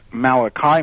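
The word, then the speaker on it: Malachi: I went and met Malaki Martin sometimes pronounced Malai Martin on the radio uh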